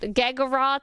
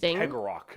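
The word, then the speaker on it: Cegorach: Geggorath, I believe is how you pronounce his name.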